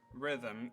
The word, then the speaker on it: rhythm: silent word letter e Rhythm H is silent note E is silent